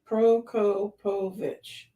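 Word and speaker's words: Prokopovych: So Petro is the first name, right? Yeah. Okay. So Petro, and then Proko, and then think Moripovich. Okay. Prokopovich.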